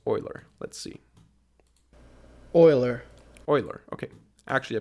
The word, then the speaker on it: Euler: again how that is pronounced uh how to pronounce Euler let's see Euler Euler okay actually I pronounced it correctly so